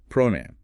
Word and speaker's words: pronoun: First, pronoun. Listen, pro noun. A sentence might be Miley paid attention to every pronoun. Don't let it sound like prone or something.